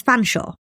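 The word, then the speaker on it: Featherstonehaugh: school and some say to pronounce the name Featherstone as fansaw which can leave others feeling a little unstoneore.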